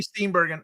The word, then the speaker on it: Steenburgen: As you know, Elf is one of my favorite Christmas movies, and according to Mary Steenburgen, always. Woo, what a fine lady. That's how you pronounce it.